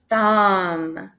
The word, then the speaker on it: thumb: Thumb. Because remember, when you have an MB, that B is silent.